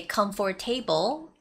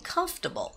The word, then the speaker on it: comfortable: like comfortable or normally the natives wouldn't say come for table okay so the stress goes on the first syllable so you have to stay comfortable you don't even have to say for it's comfortable comfortable so be careful with that and the word shortly